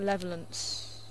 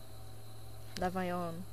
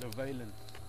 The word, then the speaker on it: Levaillant: I always want to call it a Levelant. How do you pronounce it? Levelant. See, it's English trying to speak French. Levaillant. Or as South Africans would say, is Leveillant.